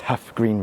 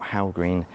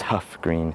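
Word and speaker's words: Hough Green: I'm just going to very quickly interrupt and say I've pronounced Huff Green wrong. It's not how green, it's Huff Green.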